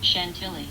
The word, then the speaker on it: Chantilly: Hey Siri, how do you pronounce Chantilly? Chantilly.